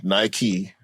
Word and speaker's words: Nike: It's named after the Greek goddess of victory, who is named Nike. That's how it's spelled.